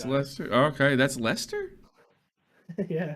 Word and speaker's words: Leicester: Oh, okay, that's Leicester. Yeah, It's spelled funny.